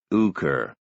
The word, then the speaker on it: Hooker: Brooker had a queer way of pronouncing his name without the H and with a long U. Uker.